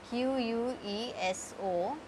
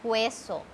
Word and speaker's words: queso: Q-U-E-S-O. Q-U-I-E-R-O. We will not pronounce this U in this. It is not queso. It is queso.